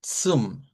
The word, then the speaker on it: zum: Azza, azza, El sonido propio es como la ts, ts, como la T y la S juntas. Ts, ts. Pero si lo queremos simplificar, lo podemos hacer como una S.